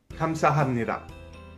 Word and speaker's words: 감사합니다: The next word that we'll look at is 감사합니다. The first block in 감사합니다 is pronounced 감, and the second block is pronounced 사.